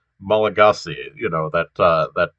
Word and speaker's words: Malagasy: pronounced on antananorivo and uh the language is pronounced malagasy you know that uh that uh that you